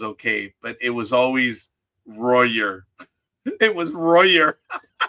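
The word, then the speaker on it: Dodgers: Uh, the way you pronounce it is the proper East Coast. Over here on the West Coast, Big Dog and I have the proper Southern California one. It's Doyers. Los Doyers.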